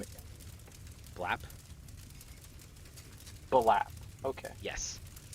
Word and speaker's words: Blap: Gosh, can you pronounce his name again? Blap? Balap. Okay. Yes. Blap.